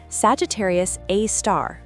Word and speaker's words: Sagittarius A*: At the absolute center of our galaxy lurks a monster, Sagittarius A star, pronounced a star.